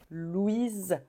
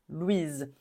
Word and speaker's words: Louise: est très très tendant on dit Louise Louise c'est comme un Z à la fin Louise comme maison Louise quand il y a